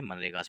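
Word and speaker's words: MGNREGA: इसमें जी जो है वो साइलेंट रहता है, मनरेगास पढ़ा जाता है।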